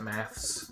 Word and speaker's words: maths: Also, they're British, so they pronounce it maths with an A. Why? Because that's what they do. Because the word is mathematics. Yeah. So if you shorten it, they think it's maths. While in America, it's math.